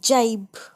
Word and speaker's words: gibe: इसको ज़्यादातर ज प्रोनाउंस करते हैं जब G के बाद I आए. जैसे GIST gist, GIANT giant, GIBE जाइब, जिराफ, जिंजर, इंजन या इंजीनियर में भी GI को ज पढ़ते हैं.